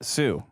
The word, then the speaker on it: Sioux: the Lakota CEO see how do you pronounce that s-i-o-u-x Sue the Sioux I knew that uh